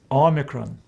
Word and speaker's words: Omicron: it in english No it gives us a sound o as in the word top the next letter is